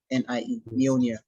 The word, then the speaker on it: Mijolnia: Mijolnia. So the J in fact is silent.